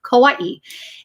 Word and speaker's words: Kauai: on the island of Kauai, and we would go. That's how you say it, Kauai.